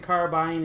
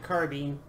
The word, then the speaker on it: carbine: Some people pronounce it carbine and I pronounce it carbine.